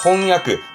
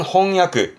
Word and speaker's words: 翻訳: 책은 홍발음이니까 번역은 그렇죠. 4번 4번에 홍야. 번역은 홍야.